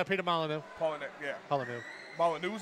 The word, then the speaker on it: Molyneux: that's how you pronounce his name. Peter Molyneux.